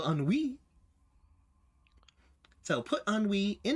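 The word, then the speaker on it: ennui: now is on WE it is spelled e n n i u i because of course it's French of course because that's clearly how you spell unwee so put on we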